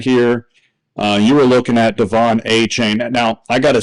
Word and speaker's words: Achane: But I disagree that his name should be pronounced Achane. Did you hear about this? Yeah. So apparently everybody's been saying his name wrong since college. Yeah, it's he had all this time to correct it, but now he says it's pronounced Achane.